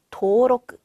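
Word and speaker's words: 登録: 등록은 도로크, 그렇죠. 밑에 이응 받침이 있기 때문에 장음으로 도우라고 읽어줬죠.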